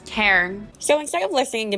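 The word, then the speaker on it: Tairn: I kept saying tearing, but it's like T-A-I-R-N. It's Cairn. So instead of listening to me butcher these names, I found the original video, and here it is.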